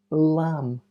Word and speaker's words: lamb: letter is silent bomb lamb Dum com W to MB the last letter is silent bomb lamb Dum comb WB tomb